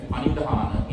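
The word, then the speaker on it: paṇidhāna: That is panidhana in Pali or pranidhana in Sanskrit.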